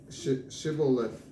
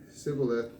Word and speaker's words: Shibboleth: If he said no, then they would say to him, "Say Shibboleth." Yet he would say Sibboleth, for he could not pronounce it correctly.